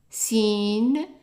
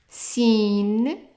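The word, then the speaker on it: سين: Next one is zai, zai, sin, sin, sheen, sheen. And then this one here is also an S in English. For example, if you have the word S-O-F-T, it's pronounced soft, so it's a so.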